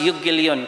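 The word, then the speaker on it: εὐαγγέλιον: Gospel is in a Greek, it's pronounced euangelion.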